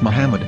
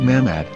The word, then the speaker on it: מחמד: According to Ben Yehuda's Hebrew English Dictionary, it is correctly pronounced as Muhammad, not Mamad.